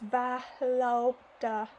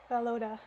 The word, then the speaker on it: Volodya: Oh, they're telling me here in the footnotes how to pronounce his name. It's Valoda. Valoda. I'll try to remember that.